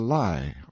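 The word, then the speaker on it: Lei: on a high rock called the lie or lie pronounced like our word lie in the rhine and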